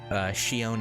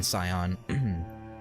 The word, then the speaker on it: Sion: Maybe we should do that, Shion, if you ask your Japanese voice actor to pronounce it. Okay. Well, I'll start saying it that way then, rather than Sion.